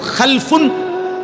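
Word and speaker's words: خَلَفٌ: একই শব্দ শুধু উচ্চারণের মধ্যে একটু ভিন্নতা। মাঝখানে একটা লাম আছে। এই লামটার মধ্যে যদি সাকিন হয় তাইলে হল খালফুন। আর যদি লামের মধ্যে জবর হয় তাহলে হল খালাফুন।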